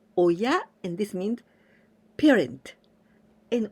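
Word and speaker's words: 親: to believe in myself this Ki we pronounce Oya and this means parent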